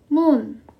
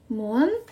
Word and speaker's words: 문: Kalau pintu bacanya 문. Jadi kalau pintu 문, kalau jendela 창문.